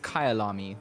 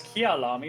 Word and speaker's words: Kyalami: we are racing on it's Kayal army that's how you say it okay because I suppose that it was kiyul army but Kyle army it